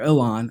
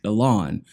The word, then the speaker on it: Ilhan: attacking yell on Omar Alon I've been pronouncing her name wrong this whole time again but some of my gracious subscribers have corrected me and told me it's pronounced the lawn so hopefully I don't